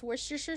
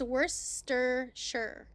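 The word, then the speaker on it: Worcestershire: So it brings you no end of joy Welsh to hear Americans pronounce worstershure sauce. Did I say it wrong? It's worshshire.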